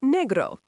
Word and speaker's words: negro: Black is negro, pronounced negro. A black cat. Cat is gato, pronounced gato, masculine. El gato negro.